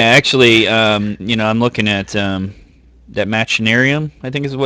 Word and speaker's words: Machinarium: Yeah, actually, I'm looking at that Machinarium, I think is how you pronounce that? Machinarium, yeah. Machinarium.